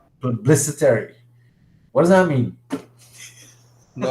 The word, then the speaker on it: plebiscitary: Independent judiciary metaphor, and the democratic, and this one I get real problems pronouncing. Autocratic, the anybody want to help? Plebiscitary. Say it again. Plebiscitary. Plebiscitary.